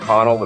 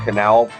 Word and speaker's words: Connell: And yes, that's how you say it. It's not Connell, it's Canal.